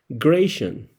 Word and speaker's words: Grachan: sacado de dudas y parece que ese nombre se pronuncia Gration. La ch se pronuncia como sh.